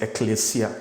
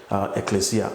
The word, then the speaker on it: ekklesia: And I know some people, even me sometimes, pronounce that word as ecclesia, but the real pronunciation is ecclesia.